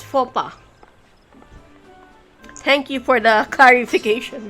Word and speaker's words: faux pas: So, faux pas. Yeah, it's faux pas.